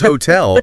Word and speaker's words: hotel: Whereas hotel with the stress firmly on the second syllable, it's effortless.